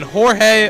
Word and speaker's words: Jorge: playing second and then jorge arenas or is it george arenas i'm sorry batting eighth playing third he spells it jorge he pronounces it george we'll have to ask